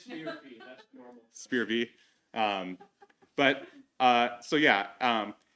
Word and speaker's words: SPIR-V: You know, it's SPIR-WAV. It is SPIR-V.